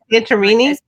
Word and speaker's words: Santorini: Am I saying it right? Santorini. Santorini. Yeah. Is that how you say? Yeah. You got you got it right.